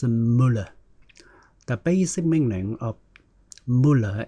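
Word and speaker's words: मूल: It is pronounced mool.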